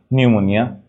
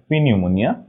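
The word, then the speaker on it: pneumonia: উচ্চারণ হয় না ওকে আমাদের পি আর এন থাকলে পি এর উচ্চারণ হয় না পি আর এস থাকলে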